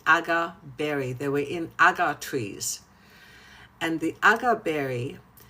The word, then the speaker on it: agar: But actually, how many of you know that oud actually comes from the agar tree.